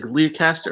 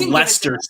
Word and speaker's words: Leicester: It's like Learcaster or something like that.